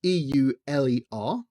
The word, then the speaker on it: Euler: to say quaternion dot Euler so e-u-l-e-r and if you're wondering about the weird spelling versus the pronunciation it's because it's named